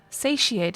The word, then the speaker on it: satiate: harmony uh so hold on say she ate satiate is how you pronounce that thank you parser uh and it